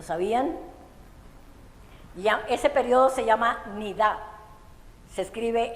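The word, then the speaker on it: niddah: este periodo lo sabían ese periodo se llama nid se escribe n i d a h en hebreo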